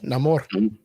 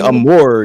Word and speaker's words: Namor: But he's not saying Amor. He's not saying Amor. No, he's saying Namor.